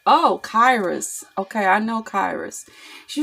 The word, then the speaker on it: Kairos: And then she was like, but it's pronounced like, okay, and then she spelled it out, okay, and I was like, oh, Kairos, okay, I know Kairos.